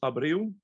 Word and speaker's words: Abreu: The last name is Abreu. Abreu is spelled Alpha, Bravo, Romeo, Echo, Uniform.